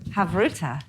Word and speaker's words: havruta: We're going to wrap up your Chavruta.